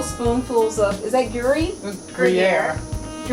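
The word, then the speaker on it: Gruyère: Jackie again you're gonna have to help me pronounce it I use a couple spoonfuls of is that Yuri gruyere say it again gruyere gruyere oh my gosh all these intellectuals that I'm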